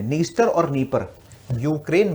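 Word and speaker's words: Dnieper: नीस्ट और नी परर देखिए नीर आपके एटलस अगर इंग्लिश वाला एटलस तो डी से स्पेलिंग शुरू हो रही होगी शायद उसकी नीर और नी परर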